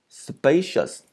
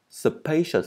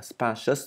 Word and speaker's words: spacious: Spacious. Spacious, các bạn không phải là spacious mà là spacious nha, âm rơi vào một, đọc là spacious, spacious.